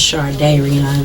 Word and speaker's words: Shardayreon: It's pronounced Shardayreon though.